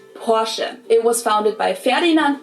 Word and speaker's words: Porsche: Porsche. It's located in Stuttgart, Germany. I've heard Americans pronounce it Porsche or Porsche. In German, we say Porsche. So there's like this short E sound in the end. Porsche.